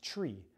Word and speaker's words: three: We have the number three, which technically on the radio, according to ATP 6-2.53, is still supposed to be pronounced tree, like a spruce tree, all right?